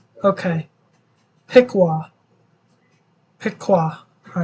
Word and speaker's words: Piqua: the good news of Piqua Piqua okay it's pronounced Piqua okay Piqua Piqua all right Piqua all right Piqua all